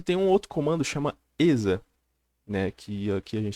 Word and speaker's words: exa: Você pode usar, aqui pro Debian no caso, pode usar apt install ESA, ou sudo apt install ESA. EXA, né? Eu tô falando ESA, mas é porque o X se pronuncia Z.